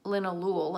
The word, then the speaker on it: linalool: of the predominant constituents it's called Lin Ahlul and that's spelled and Li and al ool and that's what gives it its calming effect now Lin Elul actually has a very